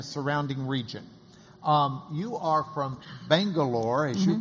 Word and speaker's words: Bangalore: So Bengaluru has 4 syllables, whereas Bangalore can be said actually in 2 syllables. Bangalore, like that.